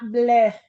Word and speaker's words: bleu: Third week is normally a quiet week, but Park Lane has thrown out bleh. I love to say it like that because I guess it's French. Blue, B L BLEU, right?